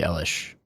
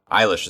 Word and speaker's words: Eilish: you were really into Billy Elish Billy eyelash I don't know like I always seen it written Eilish Eilish is the pronunciation okay well there goes